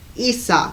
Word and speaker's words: Isa: that isis isa energy isa esa is how you pronounce it it all often indicates